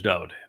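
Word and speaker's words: דוד: And I use Dode David because his name is Dode. Every song he wrote, his Mizmor, his Psalms, in his own hand, his name is spelled Daleth Wah Daleth.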